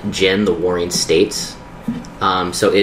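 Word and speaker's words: Qin: Q-I-N. Q-I-N. Yeah. That's Jin. So it uses, I think it's like the Chinese, I want to say like pinyin or something.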